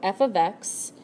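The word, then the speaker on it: f(x): there, we want to find the output for f of x equals x squared minus 1. Now, this here, that's pronounced f of x.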